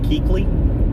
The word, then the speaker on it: Kuechly: Luke Kuechly.